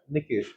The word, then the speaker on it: Nikesh: So my actual stress goes on K.